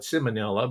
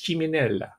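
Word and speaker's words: Ciminella: was christened christina claire chimanella or maybe back there they call it simonella but if you want to give it the italian pronunciation it's chiminella right christine claire so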